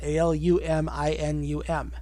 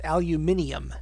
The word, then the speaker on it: aluminium: the Americans spell it, Aluminum. Okay. Not only do the British spell it differently, they also add 2 syllables. So instead of aluminum, it's aluminium, Aluminium.